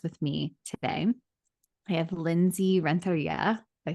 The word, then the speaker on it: Lindsey Renteria: I have Lindsey Renteria.